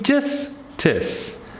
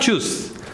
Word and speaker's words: justice: Same thing, justice. Not juice. Justice.